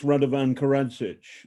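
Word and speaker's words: Radovan Karadžić: By the way, it's Radovan Karadzic is how you would pronounce it.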